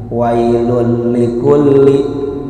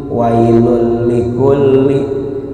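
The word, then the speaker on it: وَيْلٌ لِكُلِّ: Idgham bila gunnah, tidak menggunakan dengung, sehingga cara membacanya begini, wailul likulli, wailul likulli, tidak seperti bigunnah yang pakai dengung ditahan.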